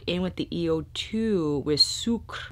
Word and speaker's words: Sucre: Bristles Beauty back in with the EO2 with Sucre. I wanna keep saying Sucre like azúcar, but that's definitely not how you pronounce it the French way, Alethea.